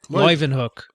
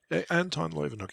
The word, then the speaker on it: Leeuwenhoek: Leeuwenhoek. Anton Leeuwenhoek.